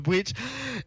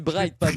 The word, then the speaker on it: Bright: l'as dit plusieurs fois que tu appelé Bridge et voilà et peut-être comment il a prononcé mon nom les gars l'émission se termin bien c'est Brights mal prononcer mais oui comment bright et et